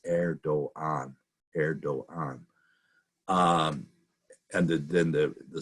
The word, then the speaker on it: Erdoğan: with a G, but the G has a little over the top of it, and that means that it's basically silent. So it's Erdoğan.